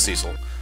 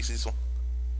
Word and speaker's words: Cecil: I back then I pronounced it as Cecil. It should be Cecil. I'm fine with both. It's Western tongue, really. It's Western versus Eastern tongue, really.